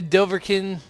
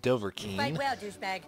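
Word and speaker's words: Dovahkiin: point am i a doverkin i know i've butchered that it's doverking but to truly succeed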